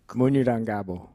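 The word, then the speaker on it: Munyurangabo: I looked up the pronunciation. You're going to have to correct me, Isaac. Munurangabo? Munurangabo.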